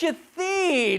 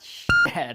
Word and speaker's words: Shadid: Oh, it's Shadid. It's not Shithead.